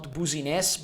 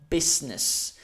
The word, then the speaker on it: business: So if you want to have your own business, here, not booziness, but business. So you don't have to pronounce the E sound. Business, not business. It's not like in rose, it's S, like in stock.